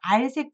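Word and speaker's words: 閼: 문문에다가 어조사 어자가 알 발음이 됐습니다. 좀 특이하지만 억울하지만 어 발음 아니고 알자고요.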